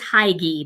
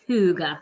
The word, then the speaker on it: Hygge: Yes, Hygge is spelled Hygge. Nothing like it sounds. I thought it was Hygge, but it's not. It's Hygge.